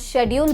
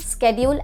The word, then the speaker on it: schedule: And talking about schedule and schedule, both are correct. The pronunciation is different but both mean the same and both the pronunciations are correct. Schedule as well as schedule.